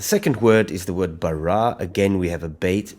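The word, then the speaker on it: ברא: a kametz, and it ends off with an aleph, which has no sound. So, Bereshit bara.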